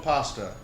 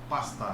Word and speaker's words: Pasta: Pasta. Pasta. Like the food.